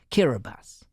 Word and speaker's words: Kiribati: Fanning Island and let's start with the name kirbas kabati or kirbas as the locals pronounce it is a Gilbert's language way of